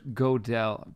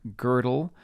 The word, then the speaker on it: Gödel: Hinkle Kant or Hilbert gödel sorry girdle and touring on my other podcast we had a reviewer give us a one-star and say that I mispronounced curdle I was saying gödel full disclosure you know